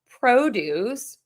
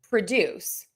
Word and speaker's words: produce: So if it's a noun, the produce, and then if it's a verb, produce, to produce, the produce to produce. So again, syllable number 1 for the nouns, syllable number 2 for the verbs.